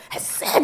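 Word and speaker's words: חסד: 헤세드 막 이런 발음들이 있어요. 그 부분이 되게 세요. 헤세드 이렇게 발음해야 된대요.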